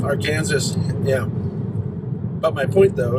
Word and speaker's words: Arkansas: arkansas headwaters recreation area i think it's pronounced our kansas our kansas yeah but my point